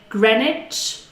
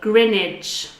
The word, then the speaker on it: Greenwich: You can say Greenwich or Greenwich. Greenwich, Greenwich. Soho, I mentioned this in one of our previous videos.